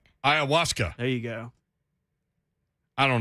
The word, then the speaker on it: ayahuasca: a it doesn't it doesn't sound how it looks ayahuasca ayahuasca there you go i